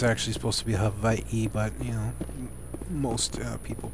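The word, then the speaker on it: Hawaiʻi: in Hawaii um it's actually supposed to be Havi but you know most people pronounce it h Hawaii uh but anyways uh we have Rex where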